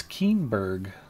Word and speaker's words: Keenberg: Cinnaberg, it's Keenberg. Who knew? Why didn't you tell me I was pronouncing Keenberg's name wrong?